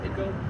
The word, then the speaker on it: Waco: Over time, the tribe name was mispronounced to go from Waiko to Waco.